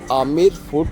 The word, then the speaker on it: Amber: रहे हैं आमेर फोर्ट असल में ये अंबर फोर्ट कहलाता है ए एम बीई आर बट पता नहीं क्यों इसका बी साइलेंट कर दिया गया इसलिए आमिर फोट हो गया यह आमिर फोर्ट